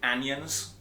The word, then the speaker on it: anions: Negative charges, anions, I pronounce it anions when I'm teaching. Sounds like onions.